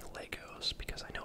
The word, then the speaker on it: Lego: Legos, I know it's Lego, Lego is the plural, but Legos are very expensive.